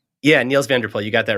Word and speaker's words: Niels van der Poel: Yeah, Niels van der Poel, you got that right.